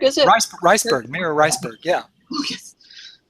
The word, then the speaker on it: Reisberg: Reisberg, is it? Reisberg, Mira Reisberg, yeah.